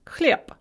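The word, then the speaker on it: хлеб: is the voiced consonant so for example cliebe bread is pronounced clip na pisav the gerund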